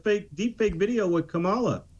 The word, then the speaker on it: Kamala: deep fake video with Kamala or kamla I can't believe I said her name wrong with kamla Harris uh where she's